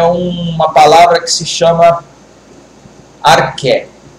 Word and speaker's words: arché: A primeira coisa é uma palavra que se chama arché. O que é o arché? Se escreve A-R-C-H-E.